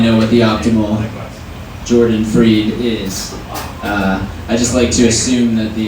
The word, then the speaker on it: Fried: night i'm your host jordan freed it spelled like fried so i myself am